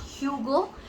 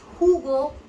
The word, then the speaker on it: Hugo: It's not Hugo, it's Hugo Boss.